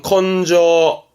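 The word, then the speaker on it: 根性: 되죠 요거는 성자요 근성입니다 발음은 컨저 컨저 근성 말하자면 타고난 성질인 거죠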